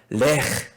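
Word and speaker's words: לך: 이건데, 이건 조금 이제 발음이 좀 어렵습니다. 근데 최대한 따라해 보세요. 자, 이건 뭐냐면, 레흐. 좋습니다. 좋아요. 아유, 좋네. 자, 레흐. 좋습니다. 그러니까 이거는 뭐냐면, 정말 이 가래 끓는 소리가 들리죠? 그래서 가래 끓는 소리가 있는데, 레흐.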